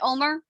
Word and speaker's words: Ulmer: you passed my skill testing question did i pronounce your last name right omar you did and you passed my steel testing